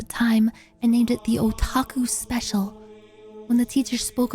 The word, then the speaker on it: otaku: I was in my cringe anime phase at the time and named it the Otaku Special.